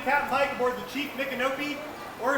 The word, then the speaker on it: Micanopy: Y'all will be joining Captain Mike aboard the Chief Micanopy, or if you want to say it properly, Miko Hanabi. Miko is the Seminole honorific for chief, and Hanabi was his name.